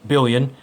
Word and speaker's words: Billion: about the company itself it is pronounced and spelled exactly as you see it bi ll ioin billion billion Racing is a Japanese